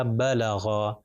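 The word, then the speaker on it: بَلَغَ: یہ ہو جائے گا با زبر با، لام زبر لا، اور غین زبر غا، اور با لا غا۔ اور اگر اس کو تیزی سے پڑھیں گے تو یہ ہو جائے گا بلغا، بلغا۔ اب اگر میں اس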